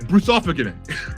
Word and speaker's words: Brusovanik: Did I say it right? Brusovanik. Awesome. Thank you so much.